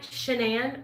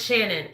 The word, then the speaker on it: Shannon: shannan you're wonderful too am I saying your name right shannan or is it Shannon I want to make sure I'm saying it right um we have a Facebook group called Real Talk recovery same way my YouTube channel is realore talk uncore recovery so it's Shannon okay I got you